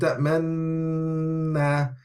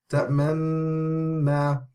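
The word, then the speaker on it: تأمنا: Then the reader must make a circle shape with their lips without changing the sound of the ghunna. So we can hear in the sound ta'manna, ta'manna, but there's no difference in sound.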